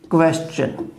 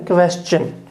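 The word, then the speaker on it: question: अब देखिए क्वेश्चन, ये क्वेश्चन, इसका फोनेटिक सिंबल है क्वेश्चन, ठीक है, क्वेश्चन, इसे क्वेश्चन या कोई और इसका प्रोनाउंसिएशन आप नहीं बोलोगे, क्वेश्चन, और नाउन है इसलिए फर्स्ट सिलेबल पे स्ट्रेस रह जाएगा, क्वेश्चन, ठीक है।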